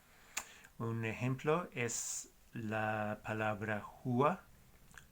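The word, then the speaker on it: rua: Así que se pronuncia un poco como la J en español.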